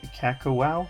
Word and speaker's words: Kakawow: 2025 Kakawow, I believe is how it's pronounced. That's how I've heard it pronounced from other channels.